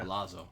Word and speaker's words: Palazzo: Palazzo. The two Z's are yeah. When you have two Z's together, it's pronounced like TZ, like pizza. Palazzo.